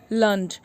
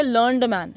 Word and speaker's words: learned: तो उसको प्रोनाउंस करते हैं लर्नेड. यू कैन नॉट से लर्नड मैन, ओके. अगर मैन लगा है इसके आगे तो लर्नेड क्या है, एडजेक्टिव है. इसका मतलब इसको प्रोनाउंस करेंगे लर्नेड.